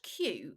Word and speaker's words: queue: But the post says, the word queue is ironic. It's just a queue with a bunch of silent letters waiting in a line.